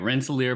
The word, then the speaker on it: Rensselaer: Rensselaer? How do you say the name of your university, Will? No, that's exactly right. Rensselaer Polytechnic Institute.